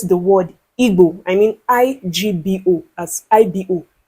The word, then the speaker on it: Igbo: certain words, like Igbo is pronounced Igbo and not Igbo.